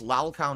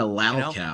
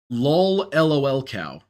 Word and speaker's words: lolcow: Lalcow? The worst belongs to LTG. LTG pronounced it he's pronounced it. How did he pronounce it? It was really stupid. Lol LOL cow. So he pronounced the LOL twice.